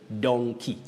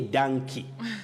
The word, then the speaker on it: donkey: rose moita of kaihancha you say donkey don't say donkey we have monkey but